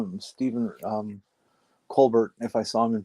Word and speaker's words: Colbert: I think it's hilarious that Stephen Colbert became Stephen Colbert just because people started calling him that from his TV show, not knowing the correct pronunciation, and he kept it. And so now he's Stephen Colbert instead of Stephen Colbert.